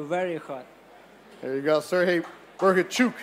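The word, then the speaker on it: Serhii Bohachuk: There you go, Sergey Bergachuk, as he told me to say his name. It's a Chuk at the end, right, from Ukraine.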